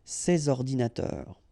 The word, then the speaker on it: ces ordinateurs: And in that case I took the plural form, so these here, and then ordinateur, computers, so you should make the liaison between s and o, ces ordinateurs, ces ordinateurs.